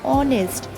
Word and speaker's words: honest: In second example, likewise, an honest, H is silent, that's why we have used an.